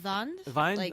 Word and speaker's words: Wiene: Caligari previously but it's the same director robert wiene or something like that and apparently his name's supposed to be pronounced son vine that's right okay I listen too soon German